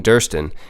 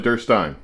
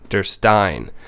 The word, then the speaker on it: Derstine: this i'm like no we've been saying durston and it's not it's actually durstein der stein just think beerstein i'm the guy behind the bar handing them out it works durstein you did that's okay